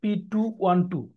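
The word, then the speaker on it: petit: আমরা দেখাই তাহলে বুঝবে যেমন ধরা যাক এক্স পিটওট এটার মানে হচ্ছে এক্স ক্রোমোজোমে পি মানে শর্টটারম এটা কি বলছি যে শর্টটারম ক্রোমোজোমকে বোঝানো হয় পি দিয়ে পিছে পেটিট বা পেটি উচ্চারণটা পেটিযে আমরা অনেক সময় দেখবেন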